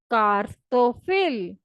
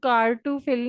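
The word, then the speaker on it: картофель: जैसे हम इंग्लिश में अगर इसको पढ़ें तो ये लिखा हुआ है कार टू फिल, लेकिन आपने इसको कार टू फिल नहीं पढ़ना, आपने इसको पढ़ना है कार तो फिल।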